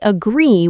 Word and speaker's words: agree: The second part is stronger.